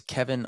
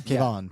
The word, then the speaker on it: Kevon: Next up, we have Roman Dolidze at plus 141 versus Kevin Holland at minus 161. I think you pronounced that wrong. I think it's Kevin Holland. Oh, hey, my bad, guys. He's from Houston. It's Kevon.